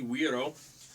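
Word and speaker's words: güiro: weir oh let's see GUI ro it's not guiro there's not a heart G it's a soft G we arrow right so these would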